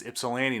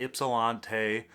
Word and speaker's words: Ypsilanti: It's Mackinac, not Mackinac. It's Ypsilanti, not Ypsilanti.